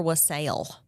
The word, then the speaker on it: wassail: Is it wassail or wassail?